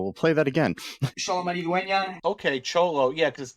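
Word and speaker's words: Xolo: quick yeah so we'll play that again okay cholo yeah because x o l o but cholo it's pronounced cholo yeah so I cannot pronounce that so that's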